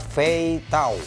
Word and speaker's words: 飞刀: Tulisannya Mandarin, ini dibacanya Fei Tao.